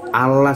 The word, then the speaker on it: Allah: dengar dulu kata ini pengucapannya sehari-hari ada yang dihilangkan menjadi Allah saja gitu loh Nah kenapa